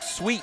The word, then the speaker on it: Sweat: Andrew's last name is Sweat and he has been he and his brother were Andrew and Luke Sweet numerous times at places even though it's spelled Sweat.